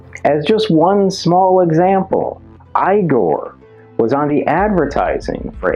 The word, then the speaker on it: Igor: You must be Igor. No, it's pronounced Igor. But they told me it was Igor. Well, they were wrong then, weren't they?